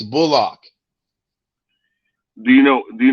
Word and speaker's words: Bullock: does your name pronounce is it bullock or bulldog how would you like to pronounce it he said i'm glad you asked me that it's bullock do you know do